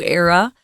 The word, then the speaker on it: era: moving toward a new era of greater respect for marine life. So a new era, or era, it's pronounced both ways.